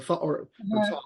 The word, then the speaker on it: Thoth: But one time, a friend gave me the copy of Crowley's Thoth Tarot, the Thoth or Thoth, however you want to pronounce it.